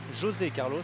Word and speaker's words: José Carlos: Vainqueur à Gand, 6,59, José Carlos Moreira, José Carlos puisque c'est un Brésilien, on ne va pas prononcer à l'espagnol.